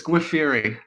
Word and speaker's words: Giuffre: It's Giuffre. It's funny, and I was re-listening to the oral arguments. The judge couldn't pronounce it right either.